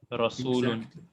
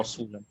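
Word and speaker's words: رسول: With a full mouth. Rasulun. Exactly. Rasulun. Very good, brother Awais, mashallah. Because we said this ra has a fatha on it, so the fatha makes it strong or full mouth.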